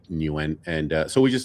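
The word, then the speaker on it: Nguyen: I still don't know how to pronounce it. When newen new Yeah.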